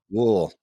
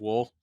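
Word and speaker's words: Wuhl: Wool. Yeah. Just Wool.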